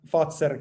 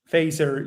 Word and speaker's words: Fazer: breakfast at Fazer cafe. It's f e z e r. Fazer you pronounce it maybe in English, but uh Fazer you pronounce it in Finnish. Sounds like Pfizer, but not Pfizer.